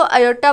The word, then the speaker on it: iota: और आयोटा को किससे शो किया जाता है, ये छोटा सा आई डाला जाता है, इसको आयोटा बोलते हैं। इसकी स्पेलिंग है IOTA आयोटा।